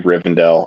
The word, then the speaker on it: Rivendell: that's our butchered thing it's supposed to be Rivendell I guarantee you it's Rivendell it is Rivendell they're in the Dell right